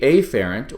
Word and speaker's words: afferent: efferent divisions of this the afferent or more correctly pronounced afferent is going to be